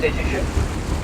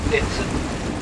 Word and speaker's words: Dittisham: On the left-hand side, we have the village of Dittisham, or Dinson, as it's pronounced locally.